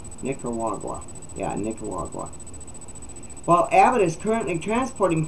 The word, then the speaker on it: Nicaragua: came from various countries such as Cuba Nigeria Nicaragua yeah it's n-i-c-a-r-a-g-u-a Nick carwaga wagwa I can't even pronounce that Nicaragua but I haven't looked at